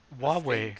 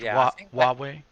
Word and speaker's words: Huawei: glasses i i kind of know how to pronounce who who away uh huawei i think that i've heard it pronounced huawei yeah well i think i i i i